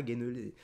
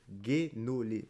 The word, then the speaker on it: Guénolé: entre Fabrice divisio et Thomas guolé apparemment Guénolé pas gu Guénolé pardon excusez-moi monsieur Guénolé